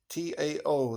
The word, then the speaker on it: Tao: It's a short book, the Tao Te Ching, the Tao, Tao. They write it, but it's pronounced Tao, Tao.